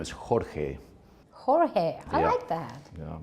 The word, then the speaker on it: Jorge: here and George I know that it's not pronounced George is it that is correct yeah my original name is Jorge Jorge I hope that yeah me too yeah